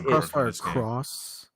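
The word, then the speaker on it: CrossfireX: I'm it's Crossfire Cross. You pronounce the X as a cross.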